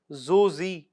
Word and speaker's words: Zojila: Now, Zojila or as it is pronounced Zozi in the Ladakhi language, it is basically a mountain pass of blizzards.